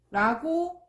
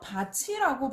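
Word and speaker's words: 밭이: 자, 예를 보면 바티라고 발음해야 되겠죠. 원래는 우리가 연음 배웠으니까 여기 비어 있으니까 얘가 넘어가잖아요. 그런데 바티가 아니라 어떻게 발음된다고요? 바치라고 발음이 돼요.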